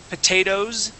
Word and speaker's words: potatoes: So it's not like glasses, where we would pronounce that ES, but we would go straight from an O sound to a Z sound, potatoes.